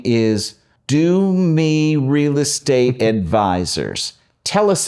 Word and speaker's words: Domi: It's Domi. It's Domi. See, that's how I pronounce it. Okay, well, you should pronounce it the way you'd like. So, when I moved to downtown Miami, that's where the name is from, DOMI, downtown Miami.